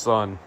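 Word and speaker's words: Sunn O))): Now there are artists like Boris and my personal favorite sono pronounced sun etc.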